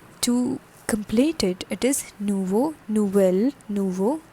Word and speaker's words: nouveau: becomes nouveau so to complete it it is nuvo nouvelle nouveau nouvelle okay next is john john